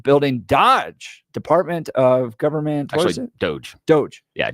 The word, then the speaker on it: Doge: Dodge Department of government Doge Doge yeah doge is how you pronounce it because it's a meme yeah it is a